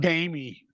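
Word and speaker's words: Taime: oh Faster Pussycat singer why do you pronounce it tame T tamy tamy down like Jamie with a t oh okay uh faster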